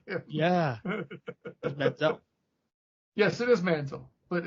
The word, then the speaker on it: Manziel: You spent back when he was still a thing, you spent time examining on my comedy pronunciation of Johnny Manziel, thinking that's what I actually called him. Yeah. That's Manziel.